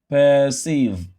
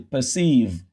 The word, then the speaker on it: perceive: Instead of pronouncing this ER as and say perceive, no, you reduce it. Instead, you pronounce it as a schwa because this R controlled vowel is now found in a syllable that is not stressed.